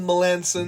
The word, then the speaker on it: Melançon: Jacob Melançon, Seattle. Faut le prononcer en anglais. J'ai appris ça dans le podcast. C'est Jacob Melanson.